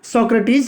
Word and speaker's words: Socrates: सक्रेटीज जी हां फ्रेंड्स इसका जो सही प्रोनंसिएशन है सक्रेटीज ही होता है लेकिन आपकी सुविधा के लिए मैं इसको प्रोनाउंस करूंगा सुकरात ठीक है फ्रेंड्स तो